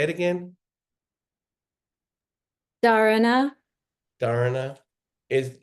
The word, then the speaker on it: Dharana: Dharana. Dharana. Is It's the pronounced the Dharana is not the same as the focus you want for a book, right?